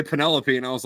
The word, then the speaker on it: Penelope: in a minute um I thought Odysseus's wife's name was Penelope because that's how it's pronounced if you've never heard that word before and then yeah and then I heard someone else say Penelope and I was like